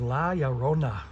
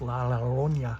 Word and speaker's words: La Llorona: And the last one is called Revenge of La Llorona. I don't know how to pronounce that. I think Spanish double L, you roll it, and I don't have the rolling tongue, but it's La Llorona, or I don't know, La Llorona.